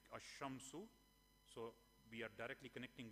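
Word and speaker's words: الشَّمْسُ: the ism has al, we normally do not pronounce the lam, but we directly go to the next word, like ash-shamsu, at-talibu.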